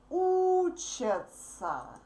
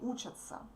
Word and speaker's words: учатся: When we speak fast, these verbs sound the same. Он, она учится, они учатся. Can you hear that? Он учится, они учатся. Она учится, они учатся. The same pronunciation. But the third letters are different. Okay? So we write these verbs differently, but we pronounce them absolutely similar. Absolutely the same way.